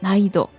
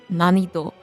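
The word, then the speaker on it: 難易度: You have to make the last n of none sound more subtle almost as if there were no n like naido. The reason is that if we would pronounce it hard like nanido, it could be mistaken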